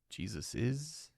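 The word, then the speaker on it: Jesus's: The most common in modern English, even if you write it as Jesus with no apostrophe S, most people pronounce it with an extra "es" sound at the end.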